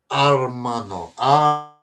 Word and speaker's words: hermano: Hermano.